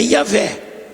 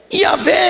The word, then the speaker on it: Yahvé: Agora Israel, o nome pessoal dele é Yahvé. Yahvé é a forma de pronunciar, e eu sou é um modo de Deus se identificar com seu povo.